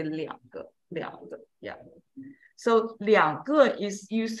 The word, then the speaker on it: 两个: When you say two of something, it's always 两个. Yeah. Two of something. Change the pronunciation. So if I have two older brothers, it's 我两个哥哥. Yeah. So only for two, we'll change the pronunciation.